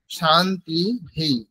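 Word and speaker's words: शान्तिः: রামাহা এরকম উচ্চারণ হবে কিন্তু আগে যেহেতু ইকার আছে সেজন্য শান্তিহি এইরকম উচ্চারণ হবে এটা যদি আমরা আলাদা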